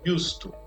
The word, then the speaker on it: used to: Então isso daqui é lido used to, ok? Como se fosse desse jeito em português. Por que é used to? Por causa da influência dessa preposição to no final, do use.